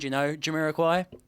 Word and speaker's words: Jamiroquai: But yeah, there's a lot of inspiration going around, Jamiroquai.